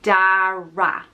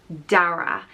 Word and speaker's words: Darragh: Obviously, Darragh means oak tree, and it's pronounced Darragh. Darragh. Typically it's spelled D-A-R-R-A-G-H.